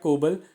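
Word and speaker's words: COBOL: तो दोस्तों वो होता है कोबल। शायद मैं इसका प्रोनाउंसिएशन गलत कर रहा हूं। बट इसको बोलते ही हैं। कोबल ही बोलते हैं।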